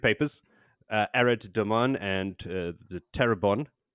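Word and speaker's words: Tarabon: Further on her secret papers, Arad Daman and the Terabon, I don't believe it's pronounced Terabone, are still in shambles.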